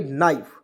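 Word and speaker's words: knife: ई तो क्या पढ़ेंगे नाइफ के को काटेंगे और एन आई एफ ही किसको पढ़ेंगे नाई फ नाइफ पढ़ेंगे ठीक है और नाइफ मीस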